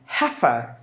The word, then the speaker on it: heifer: So the first syllable is given more volume. So heffa, heffa. Heffa means the small cow.